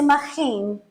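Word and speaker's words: מגן: Esta palabra escudo, que en el hebreo se dice magín, se escribe con 3 consonantes.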